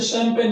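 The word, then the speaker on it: champagne: आती है, तो उसे शैंपेन कहते हैं। इसकी स्पेलिंग थोड़ी अलग सी है। तो यहाँ पर CH को शय पढ़ा जा रहा है, ना कि यहाँ पर क्या या च पढ़ा जा रहा है।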